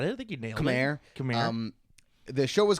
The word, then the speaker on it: Khmer: I don't know how to pronounce that correctly. I think you got it. I think you nailed Khmer.